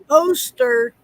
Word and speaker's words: Oster: Oyster. Oster? I This don't is- know. This Okay. is- So when they had ads, they called themselves Oster.